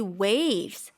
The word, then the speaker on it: waves: 이 waves, 파도, 파장이라는 뜻인데 이거 우리나라 사람이 발음하기 굉장히 어렵거든요. W도 있고 V도 있고 S도 있는데 입술이 그러네요. 정말 빨리 움직여야 돼요.